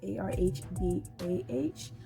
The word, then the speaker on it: Araba: So my YouTube name is ARHBAH, which is a pronunciation spelling of my name, which is Araba. So, but people call me Araba.